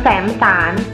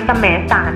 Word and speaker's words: แสมสาร: คำ ว่า อำเภอ สหัสขันธ์ คำ สุด ท้าย นะ คะ คือ คำ ว่า อำเภอ แสนสาร คำ ที่ อ่าน ถูก ต้อง คือ คำ ว่า อำเภอ แสมสาร นะ คะ เห็น ไหม ล่ะ คะ